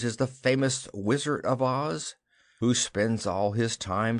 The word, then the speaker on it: Oz: "It is not Oz, as you say it, but Oz, the zone of Oz, to be more correct.